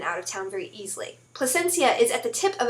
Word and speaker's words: Placencia: I went to Placencia. It is not Placentia, like I pronounced it before, and then all the people laughed at me, because placenta is not a place. It's an organ.